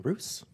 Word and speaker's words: Roose: Next up, we have Ryan Roos, pronounced like goose, but with an R, as he told me.